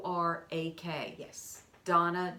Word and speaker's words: Dana: us RDA and a like Dana but it's pronounced Donna DV o are a que yes Donna Donna spelled